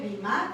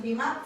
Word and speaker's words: Bimá: En español así lo podemos ver, el Bimá con el acento en la A, y en el hebreo pues transliterado de alguna manera lo podemos poner así, Bimá, sin el acento y con una H al final.